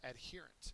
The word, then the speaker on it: adherent: expand next one is adherent and there's two different forms there's a noun form there's an adjective form uh the accent is on the second syllable the definition of the